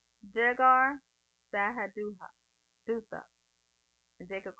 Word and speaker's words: Jegar Sahadutha: Anyway, so they did all of that, set up a pillar, and the band called it Jegar Sahadutha. Sahadutha. Sahadutha. That's how I said it right. Jegar Sahadutha.